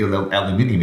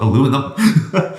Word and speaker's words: aluminium: It's only aluminium if you spell it that way, but it's actually spelled aluminum. So if you say it wrong, even though it's spelled a certain way, you're wrong. But if it's spelled with the I and you say it that way, it's okay. Yeah.